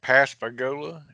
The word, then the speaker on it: Pascagoula: Calvin to go ahead and confirm that I pronounced Pascagoula correctly and that that's the right date that is correct Pascagoula and I'll cover the land was in 1973